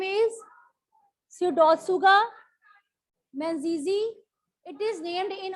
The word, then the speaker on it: Pseudotsuga: If I write down this word, How will you come to know that P is silent?